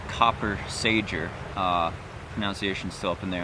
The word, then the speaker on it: Copper Sager: a massage so yes we could pronounce it copper Sager enunciation so up in